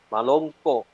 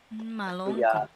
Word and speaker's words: Malongko: Jadi untuk kata Malongko, ada bunyi glotal di akhir kata. Ya. Malongko. Budaya Malongko. Malongko.